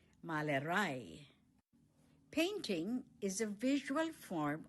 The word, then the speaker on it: Malerei: painting Die Malerei One more time, the stress is on the last syllable. Malerei Painting is a visual form of art.